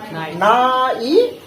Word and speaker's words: night: अब बच्चों इसमें भी कुछ साइलेंट है, ठीक? क्या साइलेंट है यहाँ पे? GH आपका क्या है? साइलेंट है। तो जब GH साइलेंट है तो क्या हो जाएगा? नाइट।